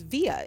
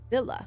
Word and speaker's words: villa: the body to his via in madrid villa sorry reading spanish um i mean isn't it pronounced i mean yeah but not in english yeah um it was